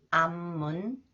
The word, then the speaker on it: 앞문: 그는 맨발로 땅을 밟는다 with 미음미음 They are pronounced 미음 sound 아홉명 아홉명 암문 암문 암문으로 아홉명이 들어왔어요